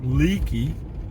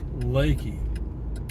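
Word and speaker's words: Leakey: camp wood over to lakey texas it's spelled l-e-a-k-e-y looks like leaky but it is pronounced lakey in this area it's highway 337 and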